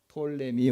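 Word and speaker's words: Ptolemy: 그리고 남왕국은 어디냐 하면 지금 이집트 프톨레미오스 이렇게 하고 영어 발음은 P가 묵음이 돼서 톨레미 왕조.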